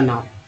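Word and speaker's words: now: जैसे एल और डब्ल्यू में ओ को ओ पढ़ेंगे तो हो जाएगा लो, एन और डब्ल्यू में ओ को आओ पढ़ेंगे तो हो जाएगा नाउ।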